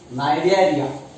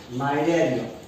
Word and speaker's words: Cnidaria: second phylum is called Cnidaria or Coelenterata. Phylum Coelenterata or Cnidaria, where C is silent.